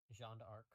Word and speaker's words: Jeanne d'Arc: Is is it pronounced Joan of Arc or Jeanne d'Arc? Uh, Jeanne d'Arc.